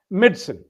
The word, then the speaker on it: medicine: Again, don't emphasize the medi. Medson. The syllables are med and sin like almost as if it is s i n medicine.